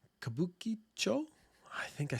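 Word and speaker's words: Kabukichō: uh there was about 300 host clubs in kabucho kabukicho I think I said it so fast I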